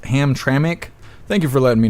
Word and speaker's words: Hamtramck: Astro Hammer, it's pronounced Hamtramck.